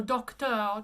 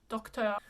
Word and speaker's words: Docteur: So Docteur, just stick your lips out, Docteur.